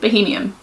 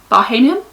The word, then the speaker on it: Bahamian: a three night uh bahamian bahamian bohemian bohemian never say it right bahamian the one around the